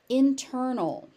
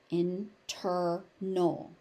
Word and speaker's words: internal: Internal. Internal. This t actually has to be there because if you say internal it nobody's going to understand what you're saying.